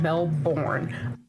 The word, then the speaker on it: Melbourne: And before we even start this video out, I got to point out that it is Melbourne, not Melbourne. Well, spell it like that. But everybody pronounces it Melbourne.